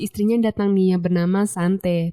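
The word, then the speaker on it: Xanthe: Ethan pun langsung mematikan televisinya nih dan tak berapa lama si istrinya datang nih yang bernama Sante. Tulisannya sih pakai X tapi ya udahlah bacanya Sante aja gitu ya.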